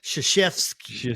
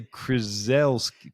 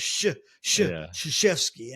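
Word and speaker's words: Krzyzewski: See, I want to say Chrisels.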